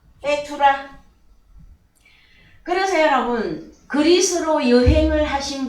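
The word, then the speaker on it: בתולה: 자, 발음이 어떻게? 베투라.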